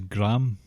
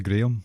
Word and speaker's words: Graham: His brother's name is Graham, but it's actually Graham, because we say it properly.